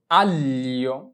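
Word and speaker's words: aglio: উচ্চারণটা কিভাবে করতে হবে জি এর উচ্চারণটাকে এল এ ধরে করতে হবে তাহলে তাহলে আ এলে আল এল ই ও লিও আললিও আললিও তাহলে আমাদের জি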